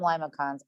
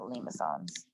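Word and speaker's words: limaçon: minus b sine theta if you call them limicons i don't care but i'm going to pronounce it limisons yes now i do care how you pronounce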